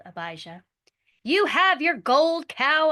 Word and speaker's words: Abijah: Abijah like Abide and then Abijah was king of Judah.